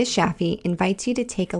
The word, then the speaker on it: Shafie: is spelled Shideh, and Shaffi is spelled Shafie.